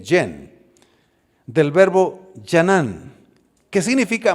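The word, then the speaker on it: חן: La primera palabra es la palabra yen. Así se puede pronunciar, J-E-N, yen.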